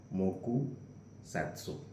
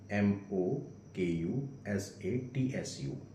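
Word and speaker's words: 黙殺: I'm telling maybe I'll pronounce that incorrectly. Mouku satsu. M o k u s a t su.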